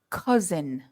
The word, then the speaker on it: cousin: wider and I go uh uh unco cousin uhuh we pronounce that the same way don't we Craig I the second vowel sound with awah I say cousin oh you say cousin and I say cousin uh yeah cousin slightly different yeah